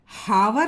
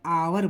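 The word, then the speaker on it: hour: अ आवर के ये एच जो है साइलेंट होता है। ठीक है? हावर नहीं बोलते हैं हम लोग। इसको हम लोग हावर नहीं बोलते। इसको हम लोग आवर बोलते हैं।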